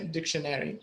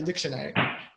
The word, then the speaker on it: dictionary: can say a dictionary dictionary depends primary the Americans say dictionary but the British usually say dictionary anyways if you want